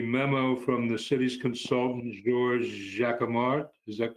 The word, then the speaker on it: Georges Jacquemart: I'm looking at the memo from the city's consultant, Georges Jacquemart. Is that correct? How you pronounce his name?